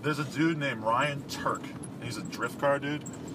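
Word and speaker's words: Tuerck: a dude named Ryan Turk. He's a drift car dude. His last name is spelled T U E R C K. This is very strange spelling. Anyway, Ryan Turk, he's a drift car dude.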